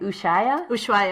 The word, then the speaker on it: Ushuaia: Ushuaia? Ushuaia, yeah.